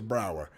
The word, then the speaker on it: Brower: definitely looking for talent paul may says your name wrong as well it's a brower uh you're somebody i've